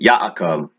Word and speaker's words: Ya'akov: and that great prophet yaakov or jacob as we properly say in the complete translation from the hebrew pronunciation to the modern-day english